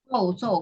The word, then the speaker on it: saw: So kan kemarin.